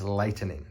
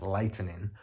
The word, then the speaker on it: lightening: For anyone unfamiliar with this concept, the word I'm saying is lightening, 3 syllables, lightening, or the process of making something lighter, rather than lightning, 2 syllables, which is the bolts